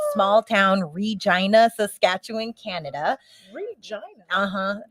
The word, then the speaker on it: Regina: Regina. Uh-huh. It sounds like they say it's a city that rhymes with fun.